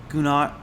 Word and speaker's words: Gunaratana: That's about mindfulness in general, whereas I feel that, and I'm going to pronounce his name properly today, Gunaratana.